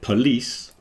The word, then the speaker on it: police: but police you got the the stress is moving to the second part so the first syllable is p like a schw is reduced down and then the second part is lease so polish and police